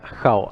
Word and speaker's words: Jao: No, mi nombre se pronuncia Jao, así como Jao. suena.